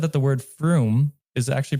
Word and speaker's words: Frum: said that the word froome is actually pronounced like the word broom in tanes so john